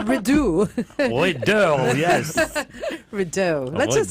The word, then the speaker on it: Rideau: Or if it's French, then the T is silent.